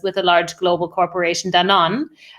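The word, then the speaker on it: Danone: a large global corporation dan on actually it's pronounced in english and we created a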